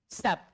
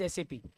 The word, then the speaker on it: SAP: सैप, सैप नहीं बोलते, सैप गलत वर्ड है, इट इज एसएपी, है ना, उसको एसएपी बोलिए, सैप मत बोलिए, सैप इज a very wrong pronunciation for that, it इज एसएपी clearly, एसएपी एंड ईआरपी।